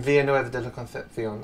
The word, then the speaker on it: Villanueva de la Concepción: My family in Villanueva de la Concepción.